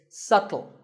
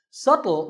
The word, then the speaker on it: subtle: It's subtle. The B is silent. Subtle means something that is difficult to notice or something that isn't obvious.